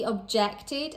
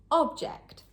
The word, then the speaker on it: object: As a noun, object, on the first syllable, but as a verb, object, on the second syllable.